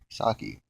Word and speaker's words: Psaki: s a k uh I guess that P just the peace silence sake okay but Jen I